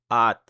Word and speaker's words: อาจ: จะ La consonne initiale est vide, la voyelle c'est le A long et la finale se prononce T, donc at. Il n'y a pas de signe de tonalité, la syllabe est morte puisqu'elle se termine par une explosive et la consonne initiale est moyenne, donc le ton est bas.